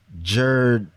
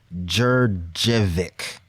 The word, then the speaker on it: Djurdjevic: The artist's name is Biljana Jurjevic. The last name is kind of hard to pronounce. To spell it, Djurdjevic. Jurjevic.